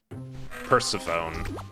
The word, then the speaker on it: Persephone: Hang on, my brain blipped because I was mentally trying to pronounce Persephone like saxophone. Persephone.